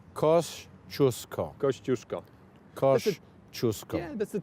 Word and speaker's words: Kościuszko: That's how this is pronounced, Kościuszko.